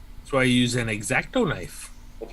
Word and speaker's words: X-Acto: That's why I use an X-Acto knife. That's right. You have to say it like that too. X-Acto. Exacto like that. I'm gonna Say make it like you're from the Midwest. X-Acto, yeah.